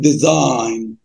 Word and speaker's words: design: علامه كده الاس دي بننطقها زد والاي سايلنت يبقى الجي سايلنت يبقى نقول ديزاين.